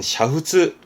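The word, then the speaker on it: 煮沸: 발음은 샤후츠 하는데요.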